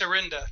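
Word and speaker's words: Orinda: 6r from Areno arinda how do you say that rich yeah it's arenda arenda arenda California and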